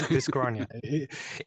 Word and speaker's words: Dyschronia: like, it's Dyschronia.